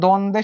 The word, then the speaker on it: দ্বন্দ্ব: আর দ্বন্দ্ব যখন উচ্চারণটা একবার লিখে দিই, দন দ, এখানে এই উচ্চারণের ভিতরে কি তুমি ব কে দেখতে পাচ্ছ? এই দ্বন্দ্ব উচ্চারণের সময় কি কোনো কারণে ব আসছে? আসে নাই। তার মানে এখানে ব কি হয় না, উচ্চারিত হয় না।